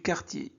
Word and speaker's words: quartier: qui s'intitule L'épicerie du quartier. Alors, êtes-vous prêts? C'est parti! Dans, alors AN se prononce en. Dans notre quartier, alors Q plus U se prononce que, d'accord? K. Quartier, ER, ES se prononce E.